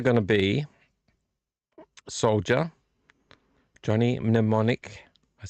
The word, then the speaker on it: Mnemonic: It's either going to be Soldier, Johnny Mnemonic, I said it right this time, or Blade Runner.